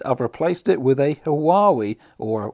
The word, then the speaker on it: Huawei: solace and instead i've replaced it with a hawaii or wowie if you pronounce it that way it's a sun 2000